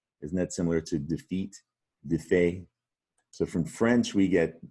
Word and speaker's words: défait: It looks like des fate, but the French pronounce it défait. Isn't that similar to defeat, défait?